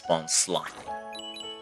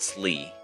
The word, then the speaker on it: Bonsly: Yes, it's Bonsly. Not sleeve. I will die on that hill. Well, not die, but I will defend my uh pronunciation here.